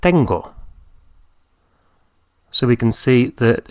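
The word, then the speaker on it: tengo: to have ten ten I have is not Teno but Tango so we can see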